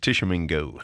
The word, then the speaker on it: Tishomingo: Am I saying it right? Am I close? You're real close. Tishomingo. Yeah, but I feel like to be authentic, it's got to be turned into an A. Haley Barbour style.